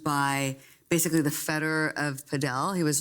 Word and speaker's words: padel: Now, DR, when we did the preview podcast, you were very excited about something called, not paddle, because you corrected me that I pronounced it wrongly, it's padel, apparently.